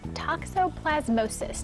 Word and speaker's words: toxoplasmosis: pet talk this morning toxoplasmosis did I say it correctly very good very